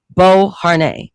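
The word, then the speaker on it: Beauharnais: That's how you pronounce the last name. Bo Har during his Italian military campaign.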